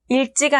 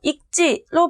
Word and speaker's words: 읽지: 닭으로 반음한다고 했었죠 이처럼 리을 기억 자원군은 기억으로 말따가 아니고 막다 읽지가 아니고 익지로 발음해야 한다고 했습니다 이처럼 늘 기억 장군